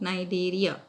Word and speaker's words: Cnidaria: Kind of long names: Platyhelminthes, Echinodermata, C is silent, Cnidaria, Arthropoda, Mollusca.